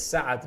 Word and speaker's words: Saad: SAAD would be like Saad, not sad.